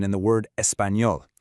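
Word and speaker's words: español: pronunciation in the word espanol. It sounds a bit like an N and a Y squeezed together. Let's practice. Do you speak English? I don't speak Spanish. No espanol.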